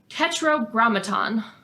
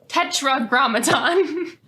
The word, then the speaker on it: tetragrammaton: something known as who this word tetrogramaton I said it wrong tetragrammaton so tetragrammaton refers to